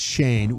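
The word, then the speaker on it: Schoen: Is it Shane or Shine? Shane. I think it's Shane. It's spelled like Shane. Shane. Yeah, it's Shane. Will likely get, since it only cost them a third.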